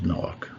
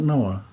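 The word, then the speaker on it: נח: of bait and yes it is knock that's how it's said in Hebrew knock not Noah not no AK that is not a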